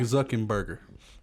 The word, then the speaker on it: Zuckerberg: Mark Zuckerberg. Like hamburger. Zuckerberg.